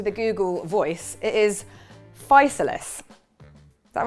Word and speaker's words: physalis: I've always thought it was physalis, which is a bit like chrysalis. My husband thinks it's physalis.